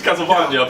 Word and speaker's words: Castlevania: That's how you pronounce it, Castlevania. People get that wrong a lot.